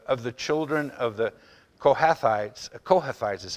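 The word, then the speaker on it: Kohathites: the and the of the children of the kohathais is how that's pronounced and of the children of the korahites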